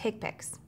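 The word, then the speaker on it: HCPCS: characters long and may be numeric or alphanumeric hick picks Healthcare common procedure coding system pronounced higpicks this is the main procedural code set for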